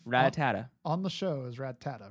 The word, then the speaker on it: Rattata: It's by saying it wrong, and then I kept saying it wrong, and then my cousin kept saying it Ratatat as well, and he got yelled at.